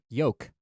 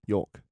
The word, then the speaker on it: yolk: a croissant yolk yolk there's an l in there but you don't pronounce it york yolk the yolk yolk yolk yes it has an implied l that you have to imply it no no no it's a silent l yolk yolk yolk okay